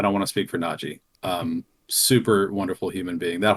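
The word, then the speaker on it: Nadji: Najee Jeter, yeah. Not Najee Jeter. Yeah, there's not an A at the end of that.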